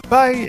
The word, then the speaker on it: Pi: Oui, ça s'écrit Pie, mais ça se dit Pie. À l'American.